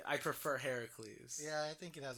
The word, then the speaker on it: Heracles: Did you know Hercules is the Roman pronunciation and is in fact the Roman demigod? Oh, really? The Greek demigod that did all the acts of Hercules and everything is Heracles. Heracles. Yeah, it's spelled Heracles.